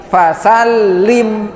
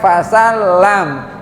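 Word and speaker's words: فسلم: Contoh di sini, idza laqitahu fasal lim, bukan fasal lam.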